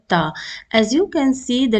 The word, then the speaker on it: ت: you pronounce the letter tap and when you pronounce the letter ta you will see that it is very similar to the English letter t in this lesson we